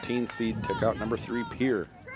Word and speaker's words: Pierre: took out number three pier or how it's pronounced correctly Pierre Heidi H also coming